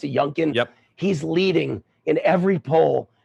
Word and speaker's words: Youngkin: seeing the outcome every poll shows the Republican youngkin I think is his name is how you pronounce it junkan he's leading in every poll and McAuliffe has